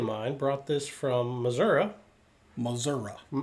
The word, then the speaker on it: Missouri: Missouri. That's how they say it. The rest of the country calls that Missouri.